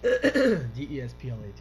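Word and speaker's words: Desplat: blood ah this one des plit I could see France and frankly they don't they don't pronounce the S yeah dev all I'm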